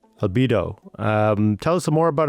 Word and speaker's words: Albedo: Is that how you pronounce it? Albedo? Albedo.